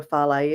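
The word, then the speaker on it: fale: it a farley, and it's spelled F-A-L-E. So it could be called a fails or fal, a farley. Different people have different kind of names.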